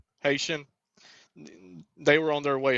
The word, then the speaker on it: Haitian: believe they were Hat or uh am I pronouncing it right? Hatian or Haitian or whatever Haitian.